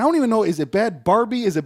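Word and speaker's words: Bhad Bhabie: even know, is it Bad Barbie? Is it Bad Bobby? Is it Bad Baby? Bad Baby, okay. Baby, but it's spelled like that.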